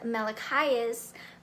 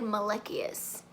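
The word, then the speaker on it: Malachiasz: messed me up though in the audiobook they pronounced one of the characters names as Melek highest but then I saw the author read a passage from the book and she said Maliki Asst so the audiobook lied to me but other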